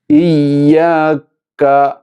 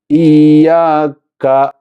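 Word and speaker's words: إِيَّاكَ: ഇയ്യാക്ക എന്ന ആ കാഫിൻ്റെ ഉച്ചാരണത്തിൽ ആദ്യം ഷിദ്ദത്ത്, ഇയ്യാക്ക എന്ന ഷിദ്ദത്ത് ആദ്യം ഉണ്ടാവുകയും എന്നാൽ ആ കാഫിൻ്റെ ഉച്ചാരണത്തിൻ്റെ അവസാനത്തോടുകൂടി കാഫിൽ ഹംസും ഉണ്ടായിരിക്കും. അപ്പോൾ ചുരുക്കത്തിൽ ഇയ്യാക്ക ഇയ്യാക്ക.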